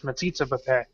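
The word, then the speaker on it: metzitzah b'peh: No, I actually, for once, I was like, I'm going to pronounce this right. It's Metsitsa Bapé.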